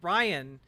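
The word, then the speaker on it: Rhyan: Yeah, you really gotta add the breathy H in there.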